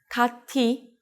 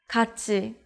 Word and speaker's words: 같이: If you read it as 같이, think about it once again.